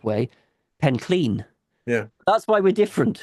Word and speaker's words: Penllyn: because everybody who seems to go there pronounced it Penllyn. Throughout the Yeah. podcast, you'll notice I'm pronouncing it that way, and Yeah. Goth is pronouncing it the Welsh way, the Yeah. correct way, Pencleen.